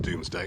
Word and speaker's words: Domesday: Not actually Doomsday, it's just pronounced Doomsday. It's actually Domesday.